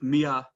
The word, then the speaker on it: Mian: everyone to introduce artif mia of princeton university by the way for that conflicting pronunciation of atif's surname i've checked that mine is correct ellie the n is meant to be silence but anyway but that's